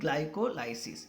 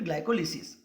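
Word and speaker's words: glycolysis: लोग क्या बोलते हैं, ग्लाइकोलाइसिस या फिर ग्लाइकोलिसिस। आप इसको प्रोनाउंसिएशन में ऐसे भी बोल सकते हो, ग्लाइकोलाइसिस या ग्लाइकोलिसिस, ठीक है।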